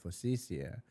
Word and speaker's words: focaccia: And she was like, oh, I want to order some focaccia, blah, blah, blah. And I was like, actually, you know, in Italy, they pronounce it focaccia.